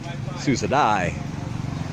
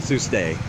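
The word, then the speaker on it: សួស្តី: I couldn't figure out why she didn't know how to say hello, but the thing is, I was saying it wrong. Susadai, not Tuesday.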